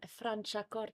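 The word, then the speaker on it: Franciacorta: rating because that's my first time can you pronounce it for me again um francha cot a francha cot that's my first time trying a francha cot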